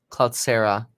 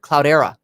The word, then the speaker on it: Cloudera: right the conversion by cloud sarah cloud sarah sinks as revenue misses ooh ten percent oh sorry not cloud sir cloudera cloud era is how you say anyway january 21 on